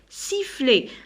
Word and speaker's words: sifflet: Alors ET كنطقها A. Sifflet.